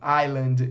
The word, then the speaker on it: island: tá falando é raff é mudo o s de algumas palavras é mudo Island é uma delas a gente não pronuncia aí entra na questão